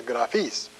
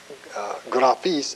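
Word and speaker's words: γραφείς: Only that is graphis, this is graphis. In other words, the accent is on the ultima here, and it's on the penult in the indicative.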